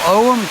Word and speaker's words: Ogham: And also on the Druid Forest School website There's our Ogham course, or Ogham course as people sometimes pronounce it, and courses to meet the sacred and profound gods and goddesses of the ancient Irish.